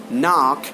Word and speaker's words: knock: is absolutely silent here the correct award pronunciation is like no knock knife night and knowledge no knock knife night and knowledge these are the solid k now we're going to